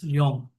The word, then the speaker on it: Luong: Now let us go to the next one, which is Luong, I can say, right? The pronunciation is like that. It's Luong.